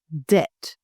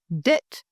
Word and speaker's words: debt: Debt. The B silent, so it's pronounced debt, not debt.